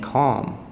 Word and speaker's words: calm: is actually silent and calm L is silent - you mustn't talk